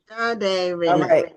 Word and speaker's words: Sade: Just like the singer.